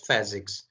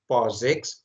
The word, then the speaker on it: POSIX: Okay, so it is written in standard documentation that do not pronounce it as POSIX or some other variation. Its pronunciation must be PHYSICS.